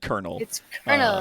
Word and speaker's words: colonel: just like it's a caliandro oh yeah it's spelt colonel but it's it's it's said colonel very like draft and dropped it it's like